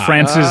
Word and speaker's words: France's: f-r-a-n-c-e apostrophe s oh it's like Joe like Francis Joe like I'm from France but like France's Eiffel Tower exactly I've always dug